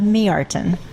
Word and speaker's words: Mjartan: today is how do you say your last name just you're not gonna make me say ok I'll make you say it me artin oh all right my